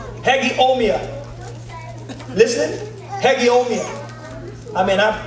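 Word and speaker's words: hegeomai: huh you listen hallelujah the greek word is hegeomia hegemia listening hegemia i mean i practiced that pronounciation all last night i've got it down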